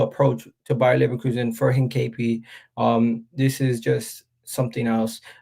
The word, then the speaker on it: Hincapie: I forget how to pronounce his name again. 1 second. This is gonna bother me all day. Hincapie. So yeah, Hincapie.